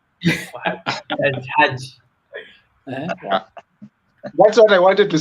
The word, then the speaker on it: Hajj: The H is silent where I come from. Hajj.